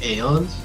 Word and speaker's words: aeons: for aeons you say aeons aeons it's like eon but plural several eons why don't